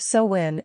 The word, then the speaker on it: Samhain: Samhain, pronounced Samhain, originated with the ancient Celtics and is celebrated on October 31st to November 1st.